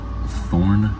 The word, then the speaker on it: Thorn: Pay attention that I said it's pronounced Thorn with the th sound, not the sound, which is what this next one is called, ETH.